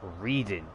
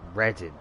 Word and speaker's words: Reading: redding no sorry it looks like reading but you pronounce it as ready so this is how